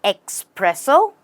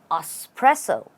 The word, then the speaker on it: espresso: you say this word do we say expresso no we say espresso a espresso stress on spr a espresso say sted